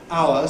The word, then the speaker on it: hour: Nor am I talking about words like hour, 60 minutes, which have an H in the spelling that is not pronounced in standard English.